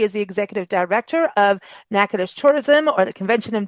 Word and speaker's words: Natchitoches: two websites one is nacadish decom I'm going to spell this out because the way you may read nacadish and how you pronounce it are two different things so it's n a